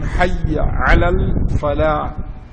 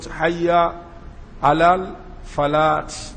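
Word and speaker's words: حي على الفلاح: Hayya ala salah, then hayya ala falah. So some people will say what? Hayya ala falat.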